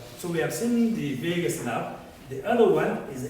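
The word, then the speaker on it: vagus: now which is called Vegas you hit my point so Vegas now some will pronounce it as vowels it's not vowels you know my what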